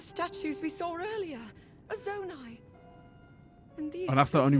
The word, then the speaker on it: Zonai: A Zonai. And these that's the only reason I know how to pronounce it, by the way. Hylians. I said Zoni, but then I heard her say it, so.